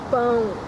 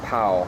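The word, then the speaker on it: pão: way to say bread bone so the nasal sound you kind of feel in your nose it's almost like you say something I'm going like Bo yeah not pow not pow po yeah pow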